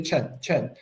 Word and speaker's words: Chen: But actually in Chinese, you have to put them together as one sound, one syllable like this.